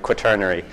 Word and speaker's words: Quaternary: That's how you pronounce it, Quaternary.